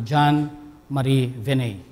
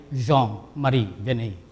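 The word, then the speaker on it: Jean-Marie Vianney: dun sa pangalan ni John Marie Vianney. Actually, ang bigkas ay Jean Marie Vianney, kasi Francis eh.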